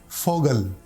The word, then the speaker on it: Vogel: V, V. This letter is pronounced like F, F, as in Vogel, Vogel.